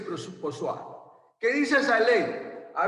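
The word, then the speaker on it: Poiseuille: A ver, yo tuve una alumna que sabe francés y me dijo que esa ley se llama ley de Poisson. Pero aquí se escribe Ponsonby, no sé cómo se escribe. Dice que se dice Poisson.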